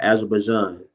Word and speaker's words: Azerbaijan: Azerbaijan.